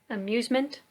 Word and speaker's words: amusement: right okay let's look at some words celery amusement and engineer how many syllables does the word celery have go ahead